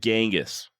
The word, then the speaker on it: Genghis: And yes, I do still pronounce it Genghis, okay?